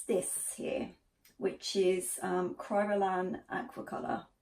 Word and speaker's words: Kryolan: dressing rooms and it's this here which is kryolan aquacolor Kryolan Kryolan how you pronounce it now : are a professional makeup